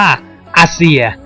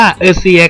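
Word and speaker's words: Azir: Emperor of the Sand พระ นาม ของ จักรพรรดิ แห่ง ชู่า นี้ อ่าน ว่า อาเซีย หรือ จะ อ่าน ว่า เอซีย ก็ ได้ แล้ว แต่ สำเนียง ยัง ครับ ต่อ ไป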